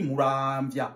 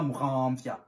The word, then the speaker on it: Muramvya: Encore une fois, pour les francophones, excusez-moi s'il vous plaît, on dit Muramvya, on ne dit pas Muramvya. Non, ni Muramvya. Nous n'avons pas de son nasal en Kirundi. Muran, non.